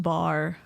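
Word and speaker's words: barre: impact variable intensity hit training program based it's pronounced bar on Progressive overload that has nothing to do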